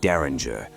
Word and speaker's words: Derringer: This is the untold saga of Rick Daringer, pronounced dare in the architect the industry forgot.